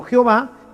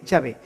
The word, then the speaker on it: Yahvé: así y y no Jehová que simplemente una una literación se fue haciendo una literación se fueron metiendo las vocales de adonay dentro de la palabra del tetragrama para que los judíos